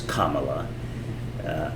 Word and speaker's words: Kamala: That Kamala, or however they want to pronounce it, her name is Kamala. I personally don't care how they pronounce it because it doesn't sound bad, no matter how you pronounce it. It's Kamala or Kamala.